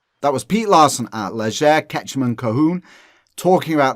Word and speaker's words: Leger: Ledger, is it? Ketchum and Cohoon? Leger, Ketchum. Leger. Yeah, Leger is a Louisiana Cajun name.